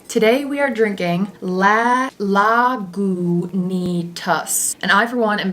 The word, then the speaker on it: Lagunitas: we drinking today today we are drinking la la gu nitas and i for one am very happy that they put how to pronounce it right on the bottle i used